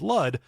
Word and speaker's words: Lud: And boy, this is Lud, rhymes with crud.